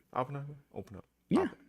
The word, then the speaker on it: Oppenheimer: How's it pronounced? Am I saying that right? Oppenheimer. Open up. Yeah. Oppenheimer.